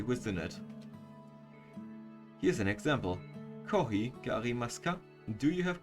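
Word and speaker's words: コーヒー: borrowed from another language he pronounced it kohi it sounds similar to the word copy right this is normal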